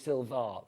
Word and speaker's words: Silvar: It's like Silva, but it's Silva. V A R. So, make sure you spell it that way.